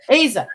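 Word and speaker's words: Aza: Azza? Azza? Is that how you Oh, pronounce his name? Asa. Asa.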